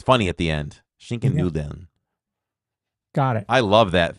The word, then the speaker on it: Nudeln: No idea how to pronounce this one, but it is a pasta. Oh, that's Schinken Nulden. Because I order it every year. Schinken Nulden. Okay. Nudeln.